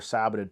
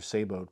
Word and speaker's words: saboted: So they function decently well with round balls and decently well with conical or saboted projectiles or saboed projectiles, depending on how you want to pronounce it.